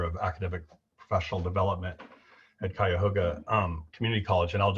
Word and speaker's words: Cuyahoga: difficult time sure nate um so you are pronouncing it correct so cuyahoga community college so you're good um we also